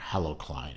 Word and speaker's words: Halocline: watch will now be the halocline or hello Klein H a.l.o.c l INE halocline halocline however yours to pronounce I usually just pronounce a halocline another difference is going